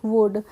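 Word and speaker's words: would: ठीक है नेक्स्ट है डब्लू ओ यू एल डी तो इसको क्या पढ़ेंगे वुड तो यहां पे हमने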